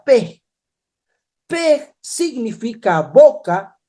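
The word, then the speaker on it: פא: No solo ello, también tenemos este otro significado que se pronuncia Pe.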